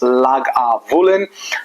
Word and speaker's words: Lagavulin: it up but it's very very simple it's pronounced lag aulen an interesting story about the name is that